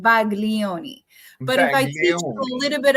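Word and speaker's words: Baglioni: it's Italian it's called Bagon but iach a little bit of Italian actually the G you should not pronounce the G so it's called Balo if I want to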